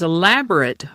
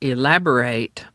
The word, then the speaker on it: elaborate: Today's word is elaborate or elaborate. Its pronunciation depends on whether you're using it as an adjective or a verb.